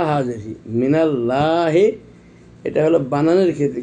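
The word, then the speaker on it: مِنَ اللهِ: খাড়া যাবার লা হাজেরি, মিনাল লাহে, এটা হলো বানানের ক্ষেত্রে, কিন্তু উচ্চারণের ক্ষেত্রে আমরা বলতে হবে মিনাল্লাহি, কারণ আল্লাহ লাফজে জালাল,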